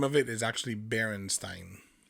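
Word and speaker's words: Berenstain: That's how I remember seeing Bernstein bears. Okay. But it's Stain. A I N.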